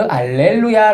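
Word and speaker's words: alleluia: 알렐루야 란 말도 있는데 그 알렐루야 를 말은 라틴어 요 쉬어 바람을 나 팀 쪽 으 발음을 좀 못해서 발음이 안되서 알렐루야 이런 말이 있습니다 갈래로 야 라는 뜻으로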